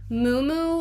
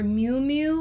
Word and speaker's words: Miu Miu: Miu Miu or Miu Miu, I've heard it pronounced both ways.